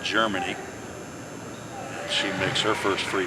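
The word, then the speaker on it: Jermani: r m a n i waiver but it's pronounced Germany she makes her first free throw it's four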